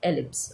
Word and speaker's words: ellipse: This is pronounced as ellipse, okay.